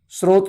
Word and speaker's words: स्रोत: फिर आप शत्रुघ्न बोलेंगे स्रोत को स्त्रोत नहीं बोलेंगे तो कि यह जो उच्चारण